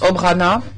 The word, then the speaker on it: obrana: exemple mot pour défense qui en croate se prononce obrana et en serbe odbrana vous pourrez trouver la